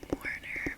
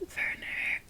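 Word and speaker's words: Werner: I said his name Warner but in the show it's verer like I think he's German so usually the W is pronounced like a V for her has the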